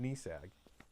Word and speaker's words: NESAG: So we pronounced it NESAG because, military acronyms.